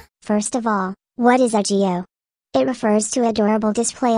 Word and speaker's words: aegyo: The robot voice pronounces it the way it wants, but in case you want to know, the correct pronunciation is aegyo.